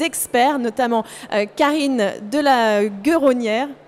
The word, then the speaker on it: Guéronnière: Vous allez voir des experts, notamment Karine de la Guéronnière. C'est comme ça que ça se prononce, Guéronnière, pardon.